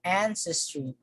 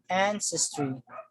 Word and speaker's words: ancestry: letter y so the the stress falls on the first syllable so ancestry ancestry we say battery battery so